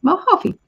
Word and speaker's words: Mojave: Okay, Mojave. So Lydia, hooray! New guy reached out today. Nice. J is pronounced H.